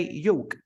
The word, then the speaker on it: yolk: of a neck and and you probably say yolk yolk you get it with a c we